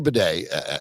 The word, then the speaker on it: Badie: But Tyler Badie, and that is the correct pronunciation.